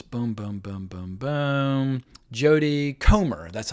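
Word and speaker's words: Jodie Comer: last duel Stars Boom Boom Boom Boom Boom Jody comr that's how you say her name anyway she's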